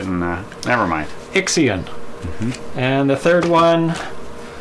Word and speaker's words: Ixion: Nixion. Ixion. There's no N. I know, I was just trying to pronounce it. And never mind. Ixion.